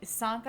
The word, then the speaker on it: Sanka: Oh yeah, Sanka I've spelled SUHN-KA.